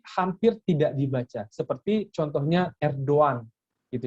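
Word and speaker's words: Erdoğan: Jadi bukan Erdogan gitu, bukan Erdogan. Ya, kalau orang Arab itu mereka nyebut Erdogan itu Erdogan gitu kan. Jadi karena mereka ada huruf ghain gitu. Tapi sebenarnya cara membacanya itu bukan Erdogan, tapi Erdogan. Erdogan. Jadi G-nya hampir tidak tersebut gitu.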